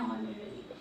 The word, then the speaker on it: honorary: So an honorary, because H is silent here.